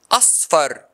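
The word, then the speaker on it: أصفر: Number two, a letter with short vowel and with the next consonant letter, like the word asfar, asfar. This word has two syllables. Asfar, asfar.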